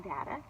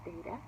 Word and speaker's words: data: We call that information data. Some people call it data. It's just pronounced both ways. Both ways are fine.